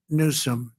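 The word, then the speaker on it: Newsom: If Gavin Nuome let the water come down, see the way I pronounced his name properly for a change.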